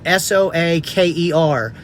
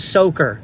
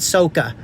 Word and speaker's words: soaker: It makes 2 faucets, and buy 2 soaker hoses, S-O-A-K-E-R. That's how it's pronounced, soaker hose, not soca.